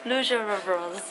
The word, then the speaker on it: rouge à lèvres: How do you pronounce it? Rouge à lèvres.